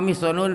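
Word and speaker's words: مِحْصَن: Wa ma mihsanun fa bi kasri mimi wa fathis sadi. Adapun mihsan ayahnya Uqasyah itu bacanya adalah mim dibaca kasrah, shadnya dibaca fathah.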